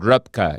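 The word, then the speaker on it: Röpke: German economist called Vilhelm Rupki if I'm called Rupka if I'm pronouncing it right.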